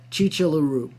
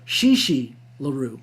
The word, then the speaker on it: Chi Chi LaRue: by a famous pornographer chi chi larue i think i pronounced it wrong shishi larue okay yeah the real